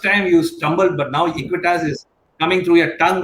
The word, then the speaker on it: Equitas: I'm happy you started pronouncing my bank's name correctly here. You first time you stumbled, but now Equitas is coming through your tongue like a flow.